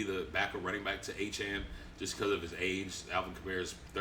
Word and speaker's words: Etienne: Now, you all know him as Travis Etienne, but he came out this offseason that is not his real name. That's not how you pronounce his last name. It's Travis Etienne.